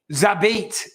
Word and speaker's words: Zabit: Zabit. That's it. 2 syllables.